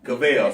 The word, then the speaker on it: Cavill: I mean, is it Cavill? Cavill, sorry. We want to make sure we pronounce names.